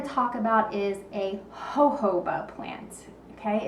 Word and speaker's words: jojoba: talk about is a jojoba plant okay it's spelled a little differently than you might think it's a j-o-j-o-b-a and the waxes and